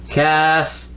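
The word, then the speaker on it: ك: in English say K now say GAF let me hear you calf calf not like the Kaffee your leg this is just k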